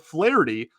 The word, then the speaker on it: Flaherty: You have Flaherty, excuse me, pronounce the H really heavy there, like I did in his introductory episode. You have Flaherty versus Tristan McKenzie.